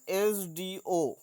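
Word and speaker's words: SDO: যেমন আরও একটা লিখি, অ্যান এস ডি ও, এস ডি ও। তো এস উচ্চারণের ক্ষেত্রে এস প্রথমে এ ভাওয়েল আসছে, তাই আমরা অ্যানটাকে প্রথমে বসিয়েছি।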